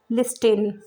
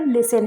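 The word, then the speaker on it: listen: ये स्पेलिंग है लिसन, लेकिन अगर हम इसको लेटर बाय लेटर प्रोनाउंस करें तो इसको क्या बोलेंगे, लिस्टिन, जो कि रॉन्ग होगा। इसकी जो करेक्ट प्रोनाउंसिएशन है वो लिसन है, तो यहाँ पर टी साइलेंट है।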